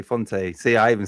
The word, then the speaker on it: Fonte: We struggle with Fonte. It should be Font, but we say Fonte.